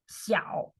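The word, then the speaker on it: 小: meaning from that okay Xiao means small Xiao small little small third tone so you go down first and then you go up falling from first and then rising from ciao so here we have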